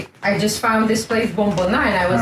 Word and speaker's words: Bomboná: How do you pronounce it? Yeah, Bomboná. Bomboná. Okay, Bomboná.